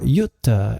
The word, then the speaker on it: Jute: Now the character formerly known as Mutt is Jute, or Jutta as he pronounces it with a newfound Scandinavian inflection, and Jute is Mutt.